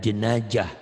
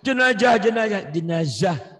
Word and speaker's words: jenazah: Dasar orang Sunda katanya gitu. Bapak, jenazah.